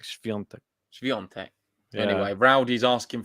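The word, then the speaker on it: Świątek: It sounds a little bit like you're doing like that type of sound, like shv. It's like it sounds like an SCHV is the beginning. Is how I would imagine it in my mind, like shv, like Sviontek.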